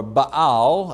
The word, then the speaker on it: Baal: into the kingdom now the word bale or bow as it's pronounced means master or possessor